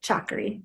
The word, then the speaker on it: Chakri: for you it is shockery day in Thailand right now though is that how you say it chalkery yeah okay um so the chakri Dynasty is the current